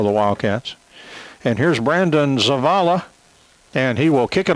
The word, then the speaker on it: Zavala: I think I called him Zapata a couple of times. It's Zavala, Z-A-V-A-L-A.